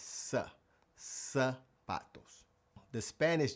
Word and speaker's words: zapatos: Well, I know it's spelled with a z, but in Spanish, the z actually just makes an s sound. So, it's not zapatos, it's sa. sa patos.